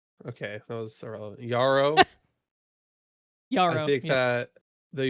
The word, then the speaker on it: Yarrow: from Tarkov, you say Jarro because you didn't do any research on how to pronounce the Marathon terms. Okay, that was irrelevant. Yarrow.